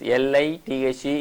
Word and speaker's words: lithe: L-I-T-H-E is pronounced as lithe.